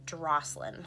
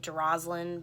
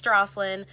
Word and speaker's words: Drosselin: my name before, and it's spelled with a D and it's pronounced like Drosselin, which is very different. There's a lot of Jocelyn's and Jacqueline's, and a lot of times I get Droslin, but that one's not right either. It's Drosselin.